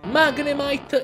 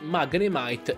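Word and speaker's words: Magnemite: prima generazione quindi rimediamo magre mike e madre ton dato che sono entrambi dei pokémon magneti e in inglese magnete 16 mag net è chiaro che i pokémon vadano pronunciati magre might e mangano e tom dato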